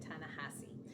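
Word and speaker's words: Ta-Nehisi: this author's name and I think it's tanasi coats I would have pronounced it differently again based on my speaking ability to speak Spanish um but I heard people who I really don't think would mispronounce his name pronounce it tanassi so tanassi codes the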